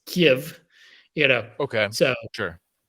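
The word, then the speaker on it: Kyiv: out recently uh that kiev in ukraine is not kiev it's kiev you know okay so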